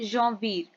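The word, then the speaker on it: janvier: French पे हम बोलते हैं जवीर। एंड हम कैसे लिखते हैं? जे एन वी आई ई आर जवीर।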